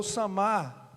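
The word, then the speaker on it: Samá: um Valente de Davi a pronúncia correta aqui no português é Sama samasse tivesse acento no último a Então como chama Valente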